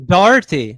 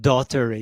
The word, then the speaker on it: Doherty: It's Doherty, not Daugherty. You spell it. Yeah. You say it wrong. It's not. That's Doherty. what I was looking for. No, it's Doherty, man. Yeah, it's Doherty.